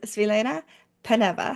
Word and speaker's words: Svilena Peneva: in my meeting women in WordPress series is Selena paneva how are you hi Michelle I'm great thank